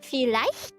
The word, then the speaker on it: vielleicht: But when it's like an EI, you pronounce it as I. So IE is E and EI is I, not A.